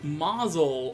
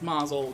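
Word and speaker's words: Mazaal: boss say hello to Mazal or at least I think it's pronounced Mazel because it's spelled ma z AAL which I always figured was like mausoleum that's why I pronounced it as Mazel anyway let's not get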